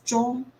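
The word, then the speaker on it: 钟: as a clock, but the clock in Chinese it's pronounced as zhong, but then also zhong in another Chinese word means the end.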